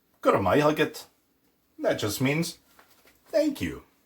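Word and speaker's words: go raibh maith agat: And finally, then after saying, tá me gabra, I said, Guramai Hugget.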